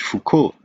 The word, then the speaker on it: Foucauld: left with ko but that's just the way we pronounce it in french foucault if you read all the letters you get fukud called cod that's a